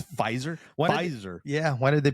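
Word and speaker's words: Pfizer: us uh I I I normally say this piser but the p is silent paper it's fiser fiser yeah why did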